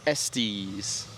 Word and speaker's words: Estes: Estes. Rhymes with testes. Sponsored by? Estes.